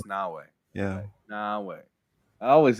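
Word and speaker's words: Naoe: Is it Nai or is No, it's Nawei. It's Nawei.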